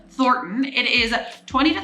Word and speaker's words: Thornton: governor of Colorado and the n in it is kind of silent I just say Thornton not foreign I can't even say Thornton so it's Thornton it is a 20